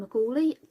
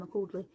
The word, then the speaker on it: McCauley: Uh, Breathe in Bleed Out by Brian McCauley. Uh, yeah, it's pronounced like that. I keep want calling Brian McCordley.